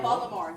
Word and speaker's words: Baltimore: Yeah, Baltimore. You're saying it Baltimore. correctly. You're saying it correctly.